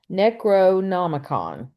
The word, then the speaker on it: Necronomicon: Uh, but It's and they accused him of, no, it's Necronomicon. That's how you yeah, pronounce it.